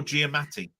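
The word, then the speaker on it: Giamatti: what I said it's a hard one to pronounce it's Paul gmati I okay Paul Gatti yeah GTI right so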